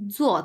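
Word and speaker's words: 坐: ক্যান এরপরে আছে দেখেন জো চার নাম্বার টন জো এটা হচ্ছে আরেকটা জো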